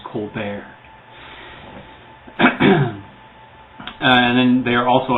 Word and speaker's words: Colbert: That's Colbert, Colbert, only it's pronounced Colbert.